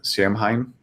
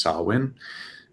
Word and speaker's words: Samhain: It's also the date of Samhain, or I think it's actually pronounced Samhain.